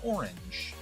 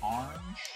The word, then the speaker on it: orange: Orange, but it's it's an orange. It's two syllables. It's not orange.